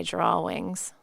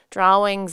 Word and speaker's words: drawings: the edge of my drawings drawings is spelled d-r-a-w-i-n-g-s so the last part is pronounced like a wing funny it's funny it's